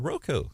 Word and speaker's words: Roku: today yeah uh i i know that it's pronounced uh roku oh good i didn't i mean brian did